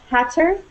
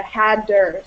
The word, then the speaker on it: hatter: of times it's pronounced hatter, but a lot of times you'll hear it almost as if it's a double D rather than a double T. So you'll hear more almost like a hadder sound.